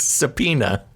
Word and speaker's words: subpoena: It's one word. It's subpoena. All right. It's a silent B.